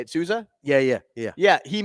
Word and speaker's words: Souza: Souza or yeah that's how you say it Souza yeah yeah yeah yeah he made that sick